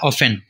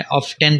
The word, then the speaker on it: often: तो वो कहलाता है ऑफन, OFTEN, यहाँ टी साइलेंट है और ब्रिटिश इंग्लिश में टी को पढ़ा भी जाता है, ऑफ्टन पढ़ें तब भी दुरुस्त है, लेकिन हमारे यहाँ आमतौर पर ऑफन पढ़ा जाता है, अमेरिकन इंग्लिश को